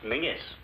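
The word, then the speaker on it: Menzies: And menses is pronounced Mingis. Why? Oh, don't ask me. It just is.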